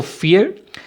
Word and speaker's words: vier: अब fear जो है उसके स्पेलिंग्स हैं VIER, अगर आप देखें यहाँ पे लिखे हुए, लेकिन जर्मन में V जो है ना, जो वर्ड वी लिखा होता है इंग्लिश में, उसकी प्रोनाउंसिएशन जो है वो F वाली होती है इंग्लिश के। तो 4 जो है वो फियर, जो 3 है वो